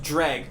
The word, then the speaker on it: Jreg: It's pronounced Jreg, but it's spelled Jreg.